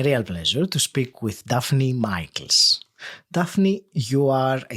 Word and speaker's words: Daphne: And uh I am uh pronouncing your name in a probably a way that you're not much used to it. But as I told you because it is a Greek name and I would call it Rafnnei if if it was Greek.